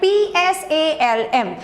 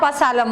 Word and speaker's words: Psalm: it is written like P-S-A-L-M, but here the sound, the pronunciation of P is silent, or you can say P is silent. So your right pronunciation is a Psalm of Life, not Pslam of Life.